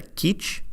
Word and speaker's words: Kizh: original people Los Angeles refer to themselves and their ancestors as the Keach ki CH with other spellings and